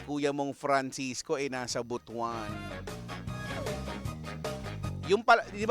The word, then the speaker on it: Butuan: Ah si kuya mong Francisco eh nasa Butwan. Yun pala ' ba yun yung tamang ano pronoun? Hindi prono hindi pronunciation. pronoun pronoun ng ano butwan hindi butuan kasiung ibaan iba yung